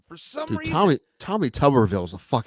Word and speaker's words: Tuberville: coach well I mean I always heard it said tuberville when he was coaching so ah I think there's only one b in it but I think to pronounce it tuberville he's of course he's